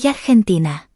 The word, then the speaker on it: argentina: Note that the letter G can make two different sounds. If the G is followed by an A, O, or U, the G makes a G sound. And if it's followed by an E or an I, it makes a H sound. So this is pronounced Argentino. Argentina.